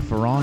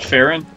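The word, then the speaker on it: Faron: Is it Farron or Farron? Am I saying it right? I always pronounce it Farron. I suppose you could pronounce it either way.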